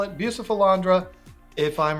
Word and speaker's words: Bucephalandra: For the sake of this video, we're going to call it Bucephalandra.